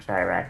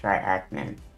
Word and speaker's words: Triachnid: Oh, it's not triarachnid, it's triachnid. Triachnid. Oh, yeah. That was close. I forgot the spelling. I just pronounced it wrong.